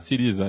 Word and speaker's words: Syriza: Eu acho que a própria eleição ano passado, que levou o Syriza ao poder, falei correta a pronúncia? Syriza, isso.